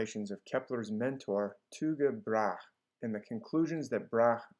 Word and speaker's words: Tycho Brahe: different ways, such as Tycho Brahe or Tycho Brahe or Tycho Brahe, but I prefer to follow the pronunciation of the Danes themselves, who pronounce it like Tycho Brahe.